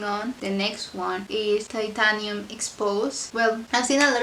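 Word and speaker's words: Titanium Exposé: It could be titanium exposed or titanium expose. I think it's expose, right? So yeah, I think that's the way to pronounce it.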